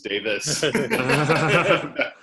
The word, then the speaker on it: Davies: Bell is for some had ever learned that you pronounced what I read is Davies and it was Davis does anyone know the